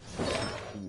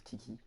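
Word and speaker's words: Qiqi: Il y en a beaucoup qui le prononcent Kiki, mais c'est Chichi, hein, c'est pas Kiki.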